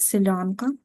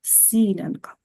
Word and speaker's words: силянка: а хочу сказати що дуже часто Чуєш як неправильно вимовляють це слово назву цього цієї прикраси і говорять Селянка Але ж ви знаєте що це слово Селянка має зовсім інше значення правда А оце у нас сілянка так що запам'ятайте будь